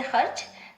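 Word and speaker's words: خرچ: अब इसी तरह से खर्च, खे रे जबर चे, खर्च, रे को आधा पढ़ा गया है।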